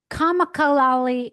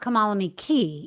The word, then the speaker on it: Kamalame Cay: But I think it's pronounced Kamalame Key, even though it says K.